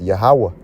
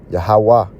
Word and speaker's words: Yahawah: So the correct pronunciation is Yahawah. Yahawah Wah meaning and Yahawashi